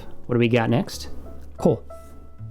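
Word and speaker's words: こ: Ko. There it is. Always pronounced ko.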